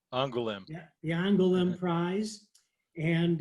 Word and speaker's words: Angoulême: You may have to help me this on Derf, how the prize is pronounced. Angoulême.